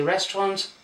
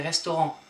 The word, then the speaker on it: restaurant: You don't say restaurant but you say restaurant.